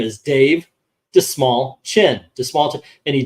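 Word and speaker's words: Dastmalchian: he goes oh you know the way to pronounce my name is Dave dis small chin the small chin and he did that over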